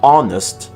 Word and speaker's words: honest: The H's at the beginning of honest and honor have nothing to say. Neither do the ones in rhyme and ghost.